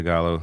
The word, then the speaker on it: gallo: Pico de gallo. I can't eat pico de gallo, though. Pico de gallo, yeah. Yeah, you don't pronounce That's right, the L's you don't pronounce.